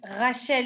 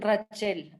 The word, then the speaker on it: Rachel: es Rachel en francés, pero me dicen Rachel acá.